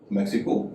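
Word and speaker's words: Mexico: मैक्सिको एक देश का नाम है, एक्स के बाद आई है लेकिन उच्चारण स हो रहा है।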